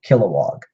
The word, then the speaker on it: Kilowog: that up but yeah Kilowog kill like to murder oh and then walk I don't I don't know what an example for would be but Kilowog katma tui she's another